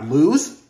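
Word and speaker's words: Luz: Drama characters we got lse yeah it's spelled l u z people for a fact despite how her name is supposed to be lse she has more of a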